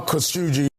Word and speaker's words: Khashoggi: Official pronunciation. Jamal Khashoggi.